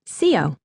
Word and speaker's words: Xio: For short, I just go by X-I-O, pronounced C-O. It rhymes with Leo, my sign.